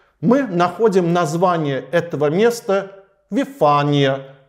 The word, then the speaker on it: Вифания: находим название этого места вифания ну а по-гречески там стоит ударение вифония Однако ориген нашел в